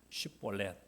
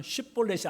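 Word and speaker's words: שיבולת: 그러면 너 한번 이렇게 한번 발음을 해봐. 슈볼렛.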